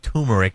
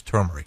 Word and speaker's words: turmeric: But she pronounced it turmeric, but it is turmeric.